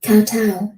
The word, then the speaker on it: kowtow: Google, how do you pronounce this word? Kowtow.